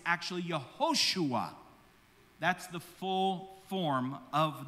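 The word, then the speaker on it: יהושע: Now, Yeshua is actually not the full pronunciation of the name, because the name is actually the exact same as Joshua. So when you look at the name Joshua, it's actually Yehoshua.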